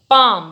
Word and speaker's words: palm: कलाई, देन मेरा हाथ, then पाम, what is this? पाम, PALM, L silent होता है इसलिए हम इसे पाम पढ़ते हैं, पाम।